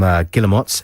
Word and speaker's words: Guillemot: That was Trains to Brazil from Guillemots, and before... Is that how you pronounce it? Yes. Guillemot. Before that, you heard the Kooks with She Moves in Her Own Way.